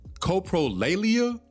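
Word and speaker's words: coprolalia: It's called copro coprolleia. Coprolleia. I believe that's how you pronounce it.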